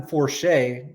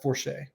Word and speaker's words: Forsha: older, I think Gavin Forsha might become kind of a significant individual for this season. Wait. Hold up. Forche? I think it's pronounced Forche.